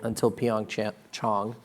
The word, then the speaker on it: PyeongChang: to track their road starting from now until PyeongChang is proper pronunciation.